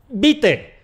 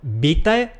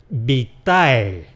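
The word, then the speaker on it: vitae: Esta es la mejor pronunciación para esta palabra. Si has dicho , también te lo acepto, pero es que lo que me parece que he oído es .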